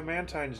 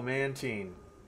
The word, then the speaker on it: Mantine: Oh, Mantine. Okay, like canteen. I used to pronounce it like that too, and then the show corrected me.